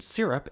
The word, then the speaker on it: syrup: What's For instance, that in the word sound? explode, the emphasis is on the second syllable, whereas in syrup, it's on the first.